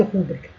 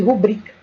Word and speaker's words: rubrica: logo não vai cometer essa sílabada de rubrica e sim de rubrica pessoal vamos parar para